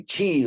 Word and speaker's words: qi: you didn't know already I like to spell it c-h-e-e you know because even if you spell she even died it still could be yeah a little confusing but if you say chi like oh I've heard of that like you